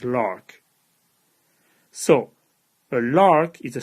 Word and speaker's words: LHRRCC: relations with constant coefficients now I'm going to abbreviate this lhrcc and since the abbreviation is pretty much as hard to say as the full name I'm going to pronounce this as lark so a lark is